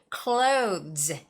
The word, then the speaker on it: clothes: th sound very distinguished all you have to do is just say clothes clothes so what I tell